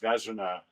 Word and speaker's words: Vezina: Actually, my name is pronounced Vezina, same as the great hockey trophy, the goalie trophy for the best goalie in the NHL.